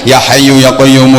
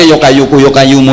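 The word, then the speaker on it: يا حي يا قيوم: Harusnya kan ya hayyu ya qayyumu, ya hayyu ya qayyumu, ya hayyu ya qayyumu, ya hayyu ya qayyumu. Tapi bacanya yo kayuku yo kayumu, yo kayuku yo kayumu, yo kayuku yo kayumu.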